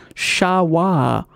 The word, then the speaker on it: Sherpa: from the east and is actually pronounced shawwar by the sherpa people themselves which i did not